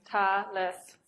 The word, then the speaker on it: Thales: He's known for his theorem, and I pronounce it the German way, Thales, so it's a little awkward.